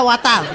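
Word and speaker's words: water: ওয়াটার না, এটা ওয়াটার। ওয়াটার। জি স্যার। জিব্বার আগে সামনের দুই দাঁতের সাথে লাগবে।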